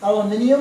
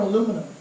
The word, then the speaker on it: aluminium: it was 30 so do you say aluminium or aluminum oh technically either one is correct it's spelled aluminium but